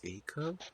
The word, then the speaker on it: Acuff: Darius Say Acuff. is Darius. a cuff. I think he. It's literally Acuff.